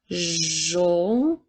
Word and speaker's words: jaune: Alors, jaune s'écrit avec la lettre J, A, U qui font le son O, N, E. Alors, jaune.